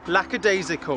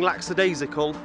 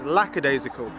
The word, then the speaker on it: lackadaisical: the week spectacular is lacad isical I'm going to have to apologize ahead of time because I keep saying laxidasical which is incorrect it's not laxidasical it's lacad isical spelled like this Bo